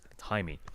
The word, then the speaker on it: Jaime: Jaime, not Yeah. Jamie.